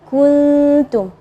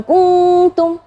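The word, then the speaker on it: كُنْتُمْ: Maka ketika membaca huruf ta, ketika hukum ikhfa, kuntum, ya, jangan kuntum atau kuntum, itu jadi idhar. Jadi kuntum tipis, ya, gunnahnya tipis.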